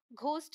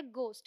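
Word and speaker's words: ghost: घोस्ट नहीं है, मैंने आपको बताया ये है गोस्ट, यहाँ एच साइलेंट है।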